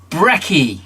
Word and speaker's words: Brecke: And it's Brecke is how you pronounce the last name of. You probably never heard that name before, though.